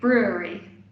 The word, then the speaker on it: brewery: say again brewery yeah almost brewery brewery so it's got three syllables but yes you did